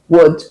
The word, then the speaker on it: would: pronunciation of those words there is no L sound. You don't add the L sound. So you say could, would, should.